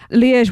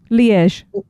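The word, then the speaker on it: Liège: Lege waffle. I've had that before in Belgium and they are amazing. What makes it a I said it wrong. Leaz.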